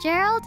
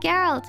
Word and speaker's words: Geralt: I keep switching between Gerald and Geralt, and now I'm confusing myself every time I say his name.